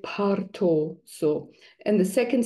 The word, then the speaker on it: bardo: you don't understand, but the Tibetans say, if you say to them Bao, they'll be what? So they say it parto.